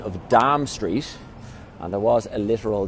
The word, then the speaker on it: Dame Street: just away and Dame streets is an abyss pronunciation of Dom Street and there was a literal dime here the